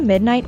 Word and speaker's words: midnight: Burn the midnight oil is synonymous with pull an all-nighter, and hence can be used as an alternative to the phrase. The word midnight is stressed on the first syllable.